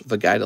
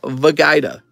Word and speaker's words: Vegeta: in the ancient Origins I know you didn't just pronounce Vegeta like that it's pronounced vagaida say it right gotta say it with gusto oh hold on okay